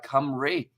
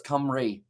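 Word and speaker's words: Cymru: into first place and it's pronounced uh kamri i'm serious my uh source is a welshman okay so it's kamri thank you very much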